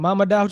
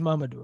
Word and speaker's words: Mamadou: how to pronounce Mamadou we went from Mama down to now his Mamadou right so like number